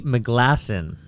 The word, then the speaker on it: McGlasson: my guest today is Ed Tandy McGlasson.